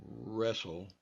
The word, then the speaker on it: wrestle: you'll notice here that the W is really is silent see if I go wrestle all you hear is the r sound so that's another thing